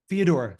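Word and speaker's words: Fyodor: the brothers karamazov by F how do you pronounce his first name I know it's dovi Fior dovi Fodor thank you Regina would you want to yeah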